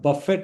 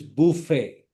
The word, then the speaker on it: buffet: Fourth one, it is not buffet, it is buffet.